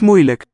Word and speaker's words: moeilijk: Let's listen for the vowel of the last syllable. Het is niet moeilijk. It's reduced. Spelled as a diphthong lake, but just a luk. Schwa.